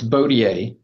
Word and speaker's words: Bodier: Is it bodyier or how how do you pronounce your name, sir? It's it's Bodier. You're on Bo like a bow.